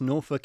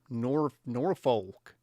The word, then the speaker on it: Norfolk: IndieBot says, greetings from America, where we pronounce Norfolk even sillier. Norfolk.